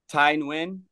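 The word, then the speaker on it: Tai Nguyen: just his name so it's spelled t a i n g u Yen Ty win and he makes music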